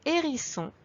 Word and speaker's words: hérisson: Ils ont tous les deux un H muet au début et tous les deux la double consonne.